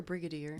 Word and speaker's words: brigadier: Rodney Bridger general Rodney is it Bridget a brigadier Brigadier thank you I don't even know